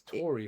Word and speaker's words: Tory: Just be aware because Oh, and it's Tory Horton.